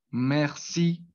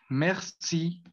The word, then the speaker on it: merci: Entonces sería mer, mer, mer. Sería mer y de ahí ya pues se le agregaría esa última sílaba que sería sí, pero pues esa tiene una acentuación al final de la palabra que pues eh, lo va a dar, pues, a dar ese acento francés.